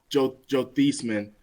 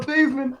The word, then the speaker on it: Theismann: I'm saying Joe Theismann because that's his actual name. I know people think I'm saying it wrong. You can Google it. He didn't win the Heisman. We call him Theismann. Okay. Theismann, not Theismann. Theismann.